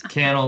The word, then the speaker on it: Cannell: And so what I always say is I'm pretty sure I'm the one who's saying it wrong at this point, but it's Cannell like channel without the H.